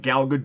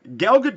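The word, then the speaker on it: Gal Gadot: not galgadot it's not galado do it's galgadot like boat but with a d she's Israeli she's not French so the t is not silent it's good do uh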